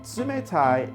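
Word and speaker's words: 冷たい: Samantha it means cold the Sioux Mora is one of the hardest for English speakers to pronounce it exists in English but not as an actual letter and tsumetai is only used to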